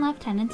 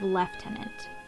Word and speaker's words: lieutenant: of the canadian militia though the more phonetic american pronunciation for this word is lieutenant the canadian armed forces still officially uses the british pronunciation of lieutenant the 1907 dress